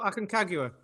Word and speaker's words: Aconcagua: Pete pronounced the name, the one beginning with A. Well, Aconcagua.